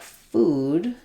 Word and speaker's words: food: or fool, I have the letters OO say oo. This is the most typical pronunciation of letters OO in English. They, most of the time, in most words, will say that tense oo vowel.